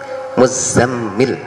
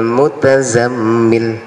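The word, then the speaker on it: المزمل: Muzammil, za dan mimnya ditasdid. Ya ayyuhal muzammil. Nah, ini bacaan jumhur ulama ahlul qiraah ya. Beda lagi dengan Ubay bin Ka'ab dan juga Imam Abu Aliyah, itu membacanya tidak ya ayyuhal muzammil, tapi ya ayyuhal mutazammil. Itu dua ulama tersebut mengatakan tidak muzammil tapi mutazammil bidhari ta, dengan membunyikan tak yang sangat jelas, ya ayyuhal mutazammil alal asli.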